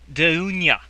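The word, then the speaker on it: Dounia: hold on a second let me try again dunya dunya dunya okay um that's spelled by the way d-o-u-n-i a again d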